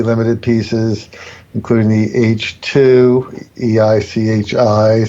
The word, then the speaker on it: Eichi: really handmade, extremely limited pieces, including the H2, EICHI, spelled H-E, but it's pronounced H.